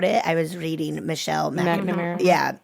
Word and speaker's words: McNamara: I was reading Michelle McNamara. Yeah. How do you say her last name? McNamara or no?